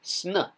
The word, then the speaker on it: sn: determinative for face so this is the word SN because you have the arrowhead SN and then you have the water sign n and you remember that's